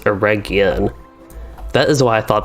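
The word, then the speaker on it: Eregion: used to call it air going okay so bryant uh you said that a region is pronounced with gu instead of sounding like a j okay that is good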